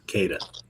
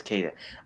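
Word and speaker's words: Queta: Nemius Kada. Oh, that's so easy. I just get uh Kada. Yeah, that's Kada.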